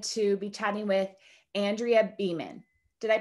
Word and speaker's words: Beaman: am so excited to be chatting with andrea beeman did i pronounce that correctly andrea that's correct okay perfect